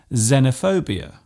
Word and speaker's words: xenophobia: It often starts a word by being pronounced as Z, such as in xylophone and xenophobia. This particular use stems from the language of the ancient Greeks.